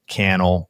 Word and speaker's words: Cannell: Cannell, rhymes with YouTube channel.